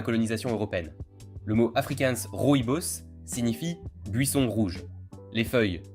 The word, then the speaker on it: rooibos: Le rooibos se prononce rooibos.